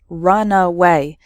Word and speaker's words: runaway: speed before taking off so the first word has three syllables run away and the second word has just two syllables Runway completely different meanings okay